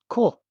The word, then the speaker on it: こ: Cool.